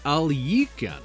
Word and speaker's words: Alekhine: to point out that the name Alekhine is normally pronounced alika but the game insists on the other pronunciation so consider that covered